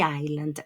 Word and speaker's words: island: The island, la S no la pronuncian.